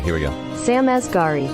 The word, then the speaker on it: Asghari: Let's see how to pronounce. It is our girl. All right, here we go. Sam Asghari. Asghari.